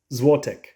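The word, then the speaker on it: złotych: is really interesting because how you say it depends on the number so this one right here is Juan zote zote and if it's two to four it's pronounced a little bit different and again I'll try my best but this is to zote so it's a little bit different and if it's five or more it's zotek zvotec so very interesting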